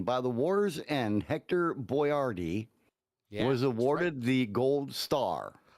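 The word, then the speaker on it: Boyardee: the name wrong yeah it's not Chef boy Rd it's Chef boardi here a more hear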